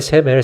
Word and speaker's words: 세멜: 세멜 발음이 세멜. 세메리아 이거예요. 사마리아. 그 이름 붙여서 사마리아예요.